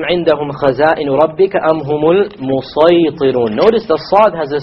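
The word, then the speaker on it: المصيطرون: It is better to pronounce it as a sad. Okay, and that is why the sin has been placed below the sad, unlike in the case of Surah Baqarah and Surah A'raf, where the sin was above it. Okay, so we pronounce this as أَمْ عِنْدَهُمْ خَزَائِنُ رَبِّكَ أَمْ هُمُ الْمُصَيْطِرُونَ أَمْ هُمُ الْمُصَيْطِرُونَ. And we're allowed to, but it is not preferred to say مُسَيْطِرُونَ.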